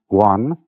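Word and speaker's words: 觀: which was represented by that Chinese character which I drew at the beginning, pronounced guan, or quiet observation.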